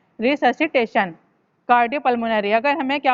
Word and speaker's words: resuscitation: Cardiopulmonary रिससिटेशन होता है RESUSCITATION, रिससिटेशन। ठीक है, इसकी प्रोनाउंसिएशन है रिससिटेशन।